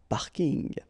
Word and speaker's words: parking: from English but still you should pronounce it the French Way parking in plus the packing